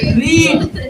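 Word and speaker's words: read: रीड। लेकिन verb का तीसरा क्या होता है? रेड होता है। इसको प्रोनाउंसिएशन रेड का किया जाता है, लेकिन इसका वर्ड वही रहता है, रीड नहीं होता है।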